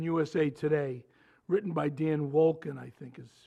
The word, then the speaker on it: Wolken: Recently, there was an article in USA Today written by Dan Wolken, I think is how you pronounce it, W-O-L-K-E-N.